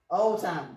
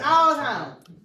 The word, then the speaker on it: Alzheimer's: Because we don't pronounce it right. Alzheimer's. Alzheimer's. Well, what do we call it? Old time. Yeah. Old time. That's not it. It's Alzheimer's.